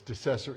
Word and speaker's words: DeCesare: Or um it's accessory with a D. So it's decessory. If you see it written, it's decessory. But no one can say that, including me, most days. So, Mike Decessory is joining us today.